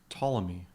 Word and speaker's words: Ptolemy: and it gave it this name of crazy patalomi if you don't name it's pronounced ptolemy in your images docker will name them for